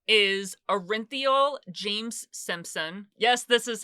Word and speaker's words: Orenthal: OJ Simpson whose original name is arinthal James Simpson yes this is how he pronounces it I know a lot of people say orthol but he pronounces it arinthal or he pronounced it he died recently I